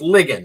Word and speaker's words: Ligon: I keep mispronouncing your name. It's Ligon, right?